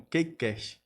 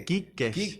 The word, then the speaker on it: Key Cast: E olha e olha que interessante, a gente às vezes acaba pronunciando como Kakecast, mas é Kcast.